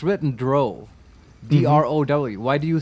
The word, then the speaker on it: drow: people of ferul honestly yeah rhymes with cow oh doesn't well the rosie rhymes with cow drow oh yeah oh yes